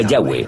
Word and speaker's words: Yahweh: y español son yhw pensamos que probablemente se pronunciaba yahwe o algo así pero yahwe solo aparece